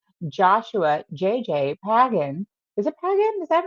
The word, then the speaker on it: Pagan: Is it Pagán? Is that how you Is that how you pronounce it Pagán? Pagán.